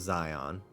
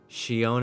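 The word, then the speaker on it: Xion: I always want to say her name is Zion. Shion is so hard to say.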